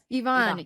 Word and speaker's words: Yvonne: Is that how you pronounce Ivonne?